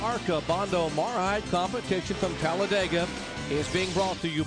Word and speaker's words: Talladega: It's a four-syllable word that means speed. You simply say Talladega.